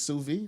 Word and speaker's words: sous vide: look you know suvi it's sous vide how you say it